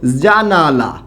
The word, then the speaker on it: জানালা: আবার একটা শব্দ খেয়াল করুন, আমি একটা শব্দ লিখলাম হচ্ছে জানালা। কি লিখলাম বলুন তো? জানালা। এই জানালা শব্দটাকে আমরা প্রায়ই এরকম উচ্চারণ করি জানলা।